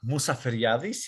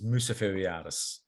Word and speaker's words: Mousaferiadis: correct my pronunciation yes well you said it perfectly in greek musa yadis is in greek and in english people know me as musa forevers okay so we're joined